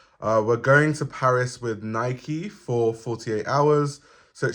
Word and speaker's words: Nike: In the UK we say Nike, but the correct way to say it is Nike because it's named after the Greek goddess.